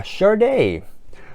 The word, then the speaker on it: Sade: And I know it's pronounced Sade because it literally tells you on the spine right there, if you can see, but it actually tells you how to pronounce it.